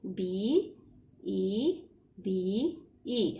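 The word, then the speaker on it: bébé: B, E, B, E. How is it pronounced? Be, be. Now, why it is pronounced be, be? Because we are putting a right accent on both the E's.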